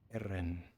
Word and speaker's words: Aaron: Aaron, it's 2 syllables. Aaron. Aaron. Well, you can roll the R if you want.